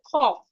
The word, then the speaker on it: cough: In this word cough, the o u g h there sounds.